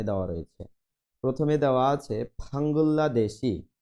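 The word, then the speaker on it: 방글라데시: রয়েছে প্রথমে দেওয়া আছে ফাঙ্গুল্লা দেশি উচ্চারণটা হবে ফাঙ্গুল্লা রিউলের পরে রিউল আসলে লয় লয় যুক্ত হয় ফাঙ্গুল্লা দেশি বাংলাদেশ খাম্বোডিয়া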